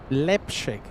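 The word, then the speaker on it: Leipzig: Flying to Lipchig. Am I pronouncing that correctly? Nine Gau 99. Leipchig.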